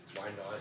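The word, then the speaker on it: Wynaut: Why Not is the name of a Pokemon. Oh, yeah? Yeah. Oh, yeah? But it's spelled W-Y-N-A-U-T.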